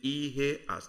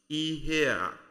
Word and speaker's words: ihe: And today we're using IHE as a base word for making our phrases. So let's begin to look at them. 7 of them in number. The first is IHE.